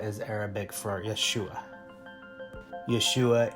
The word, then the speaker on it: Yeshua: is Arabic for Yeshua Yeshua is G Hebrew pronunciation for the word of Jesus this relief of Jesus